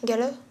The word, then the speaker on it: galop: Galope? Le cheval qui... Galope? Qu'est-ce qu'il garde, galop, qu'on n'entend pas? Le P.